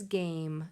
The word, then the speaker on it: game: That is also a long A. If you pay close attention, you can see that silent E right on the end that makes the vowel say its name.